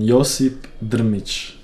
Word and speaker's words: Josip Drmić: Aber meinen Namen spricht man Josip Drmić. Korrekt aus.